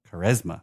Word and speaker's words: Quaresma: And I'm not sure how to pronounce his last name. Ricardo Quaresma. Ricardo Quaresma. Quaresma.